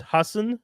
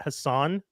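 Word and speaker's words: Hasan: Hassan Minaj for example it's Hassen it's not Hassan like he's another one that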